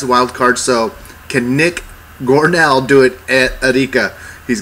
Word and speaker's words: Gornall: introduce the world to Nick goral is that am I pronouncing it correct gornal G Nick gornell gornell perfect got it gell yeah wait is it an A or an e at the end of your name an a yeah an A but it's